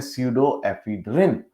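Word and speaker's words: pseudoephedrine: लेकिन डिकंजेस्टेंट्स में आमतौर पे एक चीज होती है, कॉमनली देखेंगे ध्यान से, पी साइलेंट है उसमें, और उसका नाम है स्यूडो एफिड्रिन।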